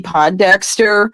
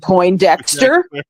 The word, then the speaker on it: Pondexter: you were there with me remember when campy Pondexter was um was on the New York Liberty